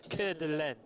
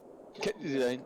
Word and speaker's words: Coeur d'Alene: she was very adamant that you had to pronounce it Coeur d'Alene. Coeur d'Alene.